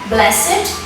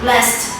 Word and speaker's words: blessed: The last syllable is pronounced it in place of d or t, as in blessed, adjective, and not blessed, verb.